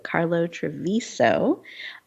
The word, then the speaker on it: Carlo Travisio: It's Carlo Travisio. So Carlo Travisio is the correct pronunciation.